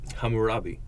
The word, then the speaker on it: Hammurabi: And when they established these rules of Hammurabi, say, Clyde, pronounce it. Hammurabi.